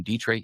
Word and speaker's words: Dietrich: Dietri Dietrich which is spelled like diet like a diet coke d i e t and then rich the opposite of poor.